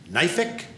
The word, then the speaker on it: knife: I'm thinking, knife-ic? And she said, no, the K comes first. I said, so then it's knife. She goes, oh no, the K is silent.